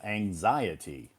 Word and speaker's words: anxiety: you see here uh the S is on the second syllable as you just found